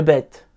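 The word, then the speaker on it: בית: de la même manière le bête se prononce comme un bep français et le vert comme un v comment on écrit ces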